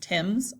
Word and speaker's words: Thames: I know it's spelled differently, but it's pronounced Thames River.